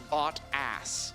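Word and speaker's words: Bottas: pretty cool and yes his name is pronounced bot a it's really just the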